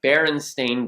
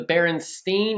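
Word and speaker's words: Berenstain: would say are the baron stain Bears why do you say it like that because most people think it's the baron steain or the baron Stein because a lot of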